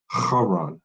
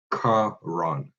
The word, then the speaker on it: Haran: It's supposed to be Haran, not Karan.